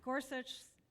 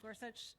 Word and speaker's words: Gorsuch: Given Gorsuch, that's how you pronounce his name, Gorsuch is position, will you promise to filibuster his nominee?